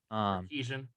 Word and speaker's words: Sarkisian: coach Steve Sarkisian, which you can repeat the pronunciation on that if you want, George. Sarkeesian.